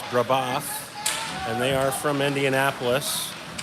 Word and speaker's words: Brebeuf: I was saying the name wrong. It's Brebeuf, and they are from Indianapolis.